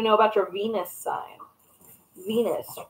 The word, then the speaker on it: Venus: Venus rhymes with Genus.